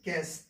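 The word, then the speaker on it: guess: ठीक है, देखिए ये लिखा हुआ है जी यू ई डबल एस लिखा है भाई, यू हमने साइलेंट कर दिया, तो इसको क्या पढ़ेंगे, गैस। क्या पढ़ेंगे, गैस।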